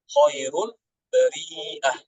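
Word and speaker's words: خير البريئة: Jadi dibacanya ulaika hum khairul bariyah, ya. Khairul bariyah. Dibaca menjadi mat ini apa? Mat wajib, ya. Bariyah. Jadi dibaca panjang 4 harokat.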